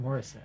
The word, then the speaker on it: Morissette: No, it's pronounced Morissette.